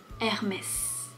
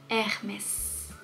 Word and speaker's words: Hermès: Première marque, Hermès. Hermès. On ne prononce pas le H, Hermès. Mais on a le droit de prononcer le S pour une fois, Hermès.